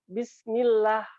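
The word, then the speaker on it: بسم الله: saja, bismillah ya, kan harusnya tipis dia, bismillah. Jadi bukan bismillah, bismillah. Nah, itu contoh yang salah contoh ya, teman-teman. Ya, contoh ini contoh yang salah ya. Kalimat bismillah saja.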